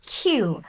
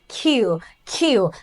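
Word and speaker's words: queue: লাইনকে ইংরেজিতে বলা হয় কিউ দেখেন কিউ ইউ ইউ বানানটা দেখে কমপ্লেক্স মনে হল উচ্চারণটা একদমই সহজ কিউ তাহলে লাইনবাকে আমরা বলি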